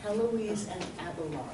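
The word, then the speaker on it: Héloïse: is Helen Alloys an album Lord Eloise that's pronounced Heloise they're we do sometimes see this name in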